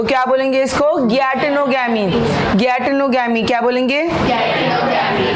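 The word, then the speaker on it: geitonogamy: गैटेनोगैमी। गैटेनोगैमी क्या बोलेंगे? This गैटेनोगैमी can also be pronounced as जियाटेनोगैमी, क्योंकि जी से स्टार्ट हो रहा है, तो वी can call it एज गैटेनोगैमी और जियाटेनोगैमी।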